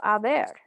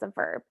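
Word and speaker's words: haber: espanol tenemos el verbo aver okay um conjugated it is yo a remember um for all of these verb forms of aver the h is going to be silent right remember in spanish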